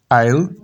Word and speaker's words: aisle: Aisle, जजीरा, इसमें S silent है, या खामोश या साकिन. डिब्री, कूड़ा. आइल, रास्ता.